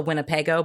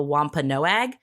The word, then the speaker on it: Wampanoag: It is not the Winnebago, but the Wampanoag tribe.